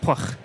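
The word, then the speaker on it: Pwyll: few catered features hook pwy ll which is pronounced pluck yeah so so you can see places where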